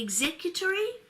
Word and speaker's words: executory: rule consideration can be executory or executive executed soon as you say executory you want to change the emphasis on the syllables don't you it can be executor